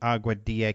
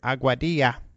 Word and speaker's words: Aguadilla: It's a little difficult to spell, although it's spelled just like it sounds. And as you can tell, I love to say the word Aguadilla.